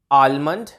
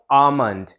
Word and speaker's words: almond: ध्यान से सुनिए, आलमंड, मैंने पहले क्या बोला? आलमंड, जिसमें एक ल का साउंड आ रहा है। अब मैं करेक्ट प्रोनाउंसिएशन क्या बोल रहा हूँ? आमंड, जहाँ एल का साउंड साइलेंट है, आमंड। तो करेक्ट प्रोनाउंसिएशन आलमंड नहीं आमंड ऐसे होगी, एल का साउंड साइलेंट रहेगा, आमंड, आमंड, आमंड।